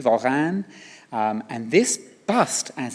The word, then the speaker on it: Warin: His name was Jean Voran. It's pronounced with a V. Varane.